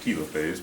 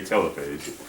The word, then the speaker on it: telophase: Our puppy needs a PMAT, prophase, metaphase, anaphase, T, telophase, sometimes pronounced telophase, but I say telophase.